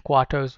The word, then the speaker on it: quarters: but is keep pronunciation quarters r is silent remember ptma pronunciation is